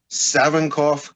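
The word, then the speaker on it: Savinkov: want to congratulate on you and something you pronounced savankoff correctly there we go I can't tell you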